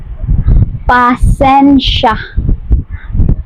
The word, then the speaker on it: pasensya: Then in Visayan, you will just say pasensya. Pa sen sya.